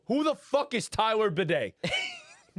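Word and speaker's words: Badie: Who the fuck is Tyler Bidet? And his name is not spelled bidet, it's spelled B-A-D-I-E.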